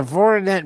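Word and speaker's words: Voroneț: Voronezh. Voronet. Okay. and you must roll the tongue.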